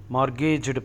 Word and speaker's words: mortgaged: loan taken such a mortgaged property m t the t is silent mortgaged property is called a